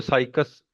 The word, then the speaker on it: Cycas: ठीक है, इसको साइकस बोल लेंगे। प्रोनाउंसिएशन कई बार आप मतलब गलत बोलते हो, साइकस इसका ठीक रहेगा।